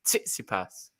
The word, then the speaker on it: Tsitsipas: the first one oh okay it's titsy purse titsy pass you gotta say the t well not the